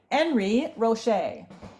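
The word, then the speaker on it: Henri Roché: here hey you know don't trust me to pronounce it right rooch I like Unison I should say enry enry Rocher that's right yes Al Al oh yeah thank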